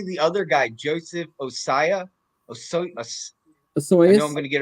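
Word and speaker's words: Ossai: how do you say the other guy Joseph osaya oh so I'm gonna get it right o-s-s-a-i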